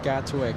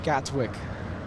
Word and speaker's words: Gatwick: London tell me that to pronounce it like the locals which I you know strive to do right correct pronunciation you have to remove the te from Gatwick uh but that's a